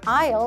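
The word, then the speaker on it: aisle: 답변으로도 많이 나와요 in IR sex 6번 통로에 있습니다 이런 식으로 답변 들어갈 수 있기 때문에 s는 발음하지 않는다는 걸 다시 한번 기억하면 좋겠습니다 No more than 숫자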